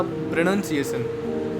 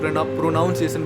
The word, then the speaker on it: pronunciation: basically word है ना प्रोनंसिएशन अब जो ओरिजिनल टोन में बोलते हैं उसको प्रोनंसिएशन बोलते हैं बट काफी लोग प्रोनाउंस एशन बोलते हैं प्रोनाउंस एशन बोलते हैं